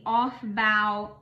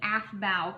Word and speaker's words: Aufbau: So you fill orbitals according to what is known as the Aufbau Principle or the Aufbau Principle, depending on your preferred pronunciation. That's a German word, and I think it means like to build up.